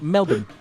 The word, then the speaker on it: Melbourne: What's the What's the It's That's not That's like the American way to say it. But I'm an enlightened globalist. It's Melbourne. Melbourne. That's how you say it.